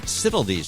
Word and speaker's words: Sitilides: And on the line now is Sitilides. Did I say your name right? Is how you say it? Sitilides. You said it perfectly, Todd.